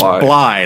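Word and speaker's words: Blythe: say my name righty it's Bly like fly I was like okay Randy Bly it's like Captain Bly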